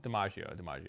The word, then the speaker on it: DiMaggio: DiMaggio.